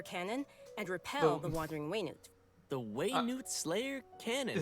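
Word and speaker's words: Wayne-Wood Slayer Cannon: and repel the wandering Wayne the way Newt Slayer cannon that's how you're supposed to pronounce it Way new it's quite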